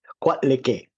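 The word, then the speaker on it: Coatlicue: I just learned the pronunciation myself. Quatlique.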